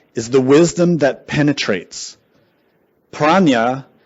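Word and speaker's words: prajñā: Praa in Sanskrit is two syllables pra and nya. Nya means knowledge. Pra means beyond.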